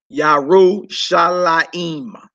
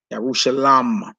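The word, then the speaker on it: ירושלים: So Jerusalem in Hebrew is feminine, and you pronounce it Yarushalayim. Some say Yarushalam.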